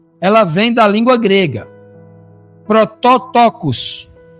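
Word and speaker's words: πρωτότοκος: Protóotocos é o é é o nome que se pronuncia aproximadamente na língua grega, que significa primogênito, certo?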